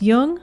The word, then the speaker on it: Jung: or tune in just be sure to pronounce jung with a hard j so with special thanks